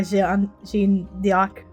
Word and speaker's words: Jeanne d'Arc: Or Jeanne d'Arc in French? Joan of Arc! Excusable, I'm French! I'm saying the French pronunciation.